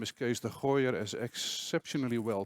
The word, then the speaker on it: Kees de Gooijer: will be talking about it my name is case the higher as exceptionally well pronounced by Mia and I'm the chief inspiration